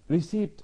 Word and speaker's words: receipt: receipt، receipt حرف البي بننطقه خفيف قوي معناها ايصال.